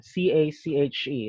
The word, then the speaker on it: cache: There's always an option to clear the cookies or to clear the cache, CACHE, it's pronounced cache.